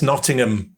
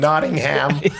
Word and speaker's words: Nottingham: here's a little tip we don't pronounce the h so it's Nottingham not you you you British people Nottingham and Birmingham and things like that so we don't see the Birmingham and Nottingham otherwise we know that